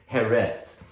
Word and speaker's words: Jerez: The word sherry, as we call it in English, is sort of a Anglo mispronunciation of Jerez.